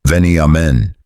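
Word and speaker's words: Veniamin: Melbourne's underworld spoke one name in hushed tones above all others: Andrew Veneman, pronounced Veni Amen.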